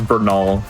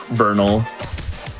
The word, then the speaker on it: Bernal: He says Bernol instead of Bernal.